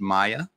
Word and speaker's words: Mia: we oh we have Maya going to be up it looks like it's spelled Mia but it's pronounced Maya and let me look